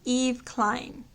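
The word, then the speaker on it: Yves Klein: pronounce this name and i believe it's pronounced eve klein and the message is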